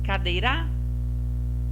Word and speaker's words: cadeira: Cadeira? Vou sentar numa cadeira? Não. Vamos testar agora o dei. Vou sentar numa cadeira. Cadeira. O dei você pronunciou mais forte.